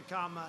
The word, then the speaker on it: Kamala: booker and you had kamala you know if you pronounce her name wrong she goes crazy come on like a comma it's like a comma she's like a comma